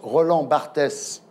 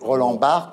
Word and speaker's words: Roland Barthes: Alors, vous êtes ministre de la Culture d'un président de la République qui prononce Roland Barthès au lieu de prononcer Roland Barthes.